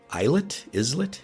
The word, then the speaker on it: islet: He sent these 6 men in a small vessel to see if there was on an islet, how do you say I think that?